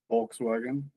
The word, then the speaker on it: Volkswagen: Volkswagen in German. Uh, the Volkswagen. Volkswagen. The W sounds like a V.